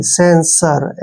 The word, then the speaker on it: censure: Next word CENSURE, देखिए CE का उच्चारण हम क्या करेंगे? शे के रूप में, एन को आधा न और एस को श लिखते हैं, ठीक है, और URE का उच्चारण यहाँ पर रे करेंगे, सेंसर, ऐसे सेंसर। सेंसर क्या होता है?